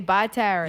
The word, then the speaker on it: Barataria: We say Bataria. You say Bataria instead of not Barataria.